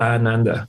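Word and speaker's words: आनन्द: Have to be careful to pronounce Ananda for those who are hearing this. Is Ananda. Right. Because you say Ananda is misery, and you don't want to invoke misery. So the pronunciation of the Ananda is important to put it out because that's joy.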